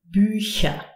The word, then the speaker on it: Bücher: If it's preceded by an E, I, or an Umlaut, E, Ö, Ü, we pronounce it Sch, as in Bücher.